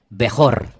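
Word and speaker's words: בכור: La palabra primogénito en hebreo se pronuncia así, como la tienen ustedes en la pantalla, Bejor.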